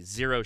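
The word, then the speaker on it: Xero: The zero shoes. Um, yeah. Zero, right? Is that it? Yeah, that's what these guys are called. Yeah. Zero with an X though.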